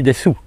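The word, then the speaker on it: です: On a souvent ça, c'est comme dans le verbe des, hein, on l'écrit desu, mais en fait on ne dit pas ou, on dit des, c'est une particularité à la japonaise.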